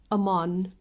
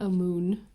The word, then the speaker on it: Amon: It is Amon, not Amun.